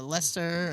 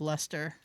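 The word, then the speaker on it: Leicester: Boston in UK and there's a Worcester and a Gloucester and a Leester and Yeah, Lemonster. Well, yeah, but they they there's there's one they actually pronounce it as Lester.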